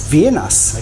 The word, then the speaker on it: vienas: Yeah, is it Vienas or Vienna? Vienas. Okay.